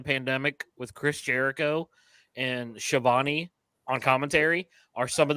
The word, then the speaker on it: Schiavone: He's like, somebody tell the host that it's not pronounced Schiavone. I'm like, kid. I'm telling you that the AEW Darks during the pandemic with Chris Jericho and Shivani on commentary are some